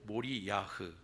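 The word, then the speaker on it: מוריה: 같은 초보들은 조금 살펴볼 필요가 있습니다 모리아의 정확한 발음은 몰이 야흐 그리고 여호와 이레의 정확한 발음도 여호와 이루에입니다 두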